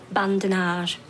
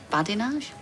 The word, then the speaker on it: badinage: shaty it oh sorry I'm trying to do bandage bandage I think you'll find it's pronounced badinage got it have Brian